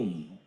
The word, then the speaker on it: Om: u and M M in Sanskrit grammar a and u coat to form o thus a a u u and M M together is pronounced as o om even the mute can